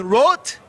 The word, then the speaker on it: Roth: hero uli john wrote can i say rother wrote don dawkins said wrote why would don dawkins say wrote it's cool in germany it's a wart but yeah but in america nobody can pronounce that so it's only john roth john roth well the